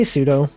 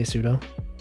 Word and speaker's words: sudo: reported to the admin i say sudo i know it's supposed to be super user do so it should be pronounced sudo but i just say sudo also the fact that